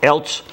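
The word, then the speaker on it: Eilts: he's a project engineer Ted how you pronounce that Els how they say it e i l TS Els uh gave a very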